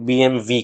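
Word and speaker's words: BMW: বিএমডব্লিউ আমরা লিখি, কিন্তু জার্মান ব্র্যান্ড হওয়ার জন্য এই ডাব্লিউ কে কিন্তু জার্মানরা ভি হিসেবে উচ্চারণ করে, তাই বিএমডব্লিউ নয়, আসল উচ্চারণ তো বিএমভি।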